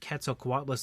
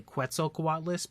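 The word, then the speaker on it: Quetzalcoatlus: filmed that review and I actually mispronounced keto quat lless all the time back then I would say quo quat list because it was just like that weird mispronunciation that I had from when I was a kid I would always mispronounce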